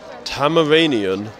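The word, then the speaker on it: Tamaranean: next question what alien species is starf five tamaranian did I say it right he actually did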